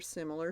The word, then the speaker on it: similar: Simular with the U is an outdated word meaning one who simulates or counterfeits. It's a mispronunciation, actually, of the word similar.